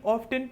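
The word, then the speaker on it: often: के लिए क्योंकि स्पेलिंग ऑफ्टन कंफ्यूज होते हैं। अब इस वर्ड को आप ऑफ्टन भी बोल सकते हैं और ऑफन भी बोल सकते हैं, दोनों करेक्ट हैं।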